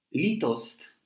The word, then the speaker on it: litost: Litost is an untranslatable Czech word. Its first syllable, which is long and stressed, sounds like the wail of an abandoned dog.